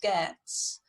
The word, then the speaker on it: Geats: Now the Geats, where it says Geats, it's pronounced Geats, and that's where Beowulf comes from, the Geats.